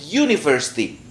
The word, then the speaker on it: university: Ini bacanya O atau U. University atau university. University. Nah, ini bukan tulisannya tapi cara membacanya. Nah, ini. Ini kalau sebuah kampus berarti a university. Ini bacanya U.